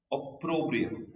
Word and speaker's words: opprobrium: How do you pronounce it? Opprobrium.